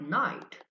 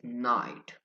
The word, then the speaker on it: night: But in modern English, even though we have the same spelling with the K, the K sound is not pronounced. It is night.